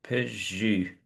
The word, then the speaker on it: peux-je: So u is a sound, as I say, it's similar to oo, but it's more to the front of the mouth. And one way of having a go at articulating it is to actually say E and then, purse your lips.